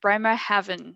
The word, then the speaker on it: Bremerhaven: i can never say this word very well bremer heaven is it bremer heaven oh perfect i know you pronounce it very well i would say is